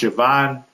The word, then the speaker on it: Siobhan: Siobhan O'Sullivan fun fact it looks like Siobhan is pronounced Siobhan.